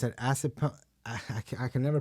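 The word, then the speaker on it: Assunpink: It's an acid punk. I can never pronounce this.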